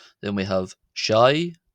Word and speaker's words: ϣⲁⲓ: the subtitles as well just to show how that's spelled. So we have o then we have shai shai.